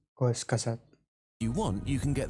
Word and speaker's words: Kurzgesagt: If So it is pronounced Kurzgesagt.